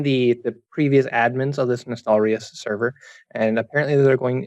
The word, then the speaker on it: Nostalrius: The server Nostalris. Like is that how you some pronounce really weird. Yeah, Nostalrius. Okay, the famous private server